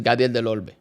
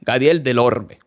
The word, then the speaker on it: Gadiel Del Orbe: Also, I expect that my name is Gadiel Del Orbe. Nobody pronounces correctly. Gadiel Del Orbe. I don't expect people to roll their Rs.